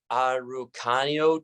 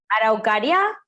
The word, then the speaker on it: Araucaria: Park that were the, I'm going to mispronounce it, the Araucanio tree, the Puin. Araucaria? Yeah.